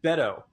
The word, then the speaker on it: Beto: rollout for bida O'Rourke but wait it's Beto it's it's it's not it's it's not bait oh so apparently I've been mispronouncing it the whole time but Beto has been